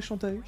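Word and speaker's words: Shantae: forward les développeurs de chanta il s'agit de yars com rising ch chant chant ou chanta ou ça toujours été chanta ouais chantille ça ça s'écrit chanta chant un jeu gavé de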